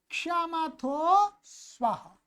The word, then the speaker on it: स्वः: वो कहते हैं स्वाहा, चांतरिक्षमथो स्वाहा। स्वाहा नहीं है भाई, स्वः। ये अ ह्रस्व अ है, जिसको छोटा अ बोलते हैं। स्वः, स्वाहा नहीं, स्वः, स्वः, भूर्भुवः स्वः, वो वाला है।